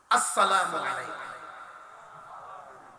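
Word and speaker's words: السلام عليكم: আসসালামু আলাইকুম। সালাম দেওয়ার সময় যে সরা এইযে আ উচ্চারণ এটা যেন ঠিক থাকে। আ এরপরে হইল সিন।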